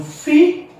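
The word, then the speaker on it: φ: E nas consoantes aspiradas, nós temos o fi, esquece, fi, eu sopro. O que é aspiração? É pneuma, quer dizer sopro. Pneuma, ou pneumata, os sopros. Pneuma, sopro. Então, quando eu pronuncio fi, eu tipo sopro.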